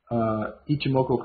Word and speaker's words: Ichimoku: A lot of people have trouble with that pronunciation, so Ichimoku Cloud.